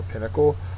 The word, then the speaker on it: pinnacle: a mountain top for Pinnacle uh it is a noun first syllable accented High Point sorry a